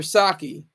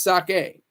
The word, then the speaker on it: sake: some Yen while you're sipping your saki sake excuse me I I said it wrong it's sake are you're sipping your